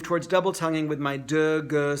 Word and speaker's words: de-ge: And then as I move towards double tonguing, my preferred syllable for that is de-ge, D-E-G-E. Not do-gu and not tu-ku, but de-ge, D-E-G-E.